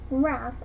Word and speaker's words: rath: gair and gimble and pronounce wrath as if to rhyme with bath and chapter one looking